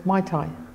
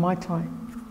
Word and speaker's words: Maitai: The spelling is the same, Maitai, but as I said, over time it's devolved, you know, take out the H, it's become Maitai.